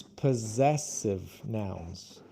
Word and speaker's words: possessive: possessive possessive because it's possessive nouns. Possessive. So, the first s's are a z sound and the second s's are an s sound.